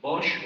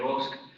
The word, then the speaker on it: Bosch: El caso se llama Inre Bosch o Inre Bosk, dependiendo cómo lo querramos. pronunciar es un caso de